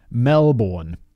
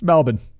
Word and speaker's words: Melbourne: Like, I didn't live it down on Twitter forever, because I pronounced Melbourne, Melbourne, how it's spelled. And people were like, yo, fact boy, it's Melbourne. Ah, idiot, Melbourne.